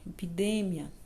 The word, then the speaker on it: epidemia: palavrinha aqui ó epidemia observa em a maneira que o pronunciei ela em espanhol epidemia não ep de Mia no português nós falamos epidemia no espanhol epidemia então vejam bem existem